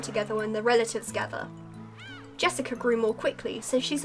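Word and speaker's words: 朱志香: same kind of weird name anyway BL is pronounced Jessica she's dad's older brother's daughter that older brother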